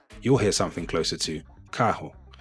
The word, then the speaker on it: carro: You'll hear something closer to carro, carro. So that R at the beginning of a word is pronounced like an H, and the RR in